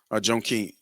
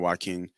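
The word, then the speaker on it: Jonquel: Joan Keen. Joe Keen. I think that's how you pronounce it. Not Joaquin.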